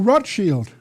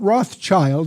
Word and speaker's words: Rothschild: Meyer Amschel Bauer changed his name to Rothschild, not Rothschild. That's mispronounced by most Americans. Rothschild. That's the German word for red shield.